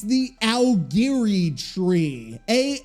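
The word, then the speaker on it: Aogiri: __ ] word and why can't Survivor Ms pronounce it either it's it's the aliri tree a o g i r i I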